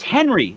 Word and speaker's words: Henri: It's Henry. Like, I know that they all want to pronounce it. My great-grandfather's name. It's a French pronunciation of Henry.